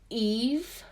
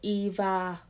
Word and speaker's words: EVE: sleek shirt search robot named eve but he pronounces it eva join so basically it's